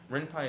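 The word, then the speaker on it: Ren'Py: Oh, Renpai. Renpai is spelled Renpy.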